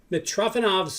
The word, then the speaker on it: Mitrofanov: The best move, which is one of the most famous moves in history, which is called Mitrofanov's move, I think it's called. Let me make sure I'm pronouncing that right.